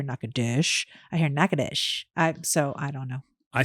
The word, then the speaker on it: Natchitoches: spell it correctly so n a t c h i t o c h e s Excellence spelled nachatoches but don't say it that way why oh because